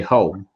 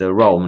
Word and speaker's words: Rome: of Rome in Italy, they'll say home, well, like casa, but it's not casa, it's Rome, not home.